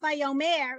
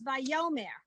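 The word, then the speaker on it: וַיֹּאמֶר: Because the accent by default would be on the last syllable, which would be the mer. And in fact, it's on the yo. So it's not vayomer, it's vayomer.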